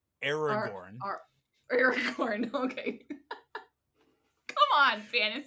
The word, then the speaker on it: Aragorn: Aragon has to do with that progression, but Wait, who did I mean to say? Aragorn.